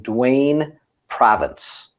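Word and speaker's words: Dwayne Provience: non-dna innocence cases involving duane province am i pronouncing that right you actually are almost no one pronounces it correctly but you did so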